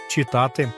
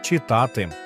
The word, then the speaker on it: читати: слово на сьогодні читати деякі кажуть читати але правильно читати бо в дієсловах цього типу наголос падає на корінь або суфікс а не на перший склад Ну що друзі які